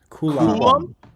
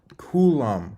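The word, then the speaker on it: Coulombe: Well, yeah, we're going to need you to hop in and give us the perfect pronunciation. Coulomb. I think I nailed it. Can you say that again? Yes. Coulomb.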